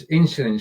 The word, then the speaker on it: Insulin: Yes is a Z. No, insulin. Yeah, insulin. Yeah, it's not a Z.